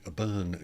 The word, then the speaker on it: Byrne: We have Johnny Byrne joining us later in the week, so that's how it is pronounced, not how it looks like it is spelt.